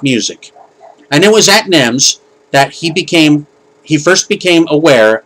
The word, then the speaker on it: NEMS: record department of his family's music store called NEMS, and they spell it with all caps, N-E-M-S.